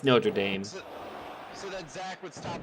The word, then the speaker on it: Notre Dame: I was openly wishing for Duke to beat Notre Dame or Notre Dame or however you want to pronounce It's Notre Dame.